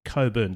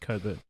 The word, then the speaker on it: Cockburn: Grand Turk, surprising, is also home to the territo's capital city, which is called Coburn Town. It's spelled Cockburn, but I assume it's pronounced Cobert.